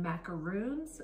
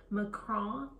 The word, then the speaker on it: macaron: so many different ways a lot of people call them macaroons um that's actually a coconut cookie macron um you can roll your R if you want as